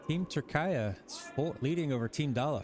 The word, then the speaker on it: Türkiye: I was corrected that I shouldn't be saying Turk anymore. Yeah, Türkiye. Türkiye. Hopefully that's correct.